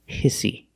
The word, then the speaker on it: hissy: We see the pronunciation of hissy. Use the short I sound like this is. Hiss, hissy.